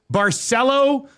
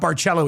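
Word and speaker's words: Barceló: Join myself and Lieutenant Eric at Barcelo Maya Colonial. Daniel who's at the Nasty Bash says we were saying it wrong. It's not Barello, it's Barcelo. Barcelo Mile Colonial in Mexico from February 24th to March 3rd.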